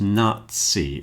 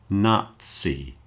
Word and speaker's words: Nazi: So a word like Nazi as in the German socialist party is pronounced Nazi. It's pronounced more like a ts sound. Nazi and also the composer Mozart takes the same pronunciation.